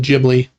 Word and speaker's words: Ghibli: That's the latest Studio Ghibli movie. I say Ghibli. You're going to get roasted in the comments. I know. I think it is officially Ghibli.